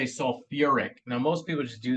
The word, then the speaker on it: sulfuric: suide we go suic we don't say sulfi we say sulfuric now most people just